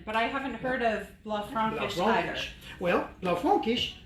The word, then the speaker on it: Blaufränkisch: I haven't, but I haven't heard of Blaufränkisch either. Well, Blaufränkisch, some people call it Blue Franc because they can't pronounce the Blaufränkisch, but it's also a Limburger.